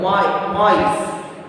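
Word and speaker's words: maïs: So see here when you are saying ma-e. So you are pronouncing two vowels separately, individually. Mice.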